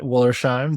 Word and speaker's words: Wollersheim: I'm here with Wollersheim. Did I pronounce it right?